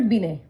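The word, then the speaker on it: Binet: देखिए हम स्पेलिंग में यहां पे बी आई एन ई टी लिखते हैं। लेकिन ये टी यहां पे साइलेंट होता है। तो हम इसको कैसे पढ़ते हैं? अल्फर्ड बिने।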